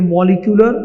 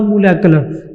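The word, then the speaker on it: molecular: ये मॉलिक्यूलर या मोलेकुलर दोनों प्रोनाउंसिएशंस ठीक है, इसमें घबराइएगा मत, ये आप लोगों के पास मॉलिक्यूलर फार्मूला होता है।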